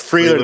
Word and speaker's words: Freiler: It's Freeler, they said. Yep. So he came in, and they got the pronunciations down here.